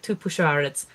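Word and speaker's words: Tupuxuara: in it uh but it is uh from Brazilian Portuguese so X is pronounced as a sh noise oh yeah two push um two P two push ARS um but yes and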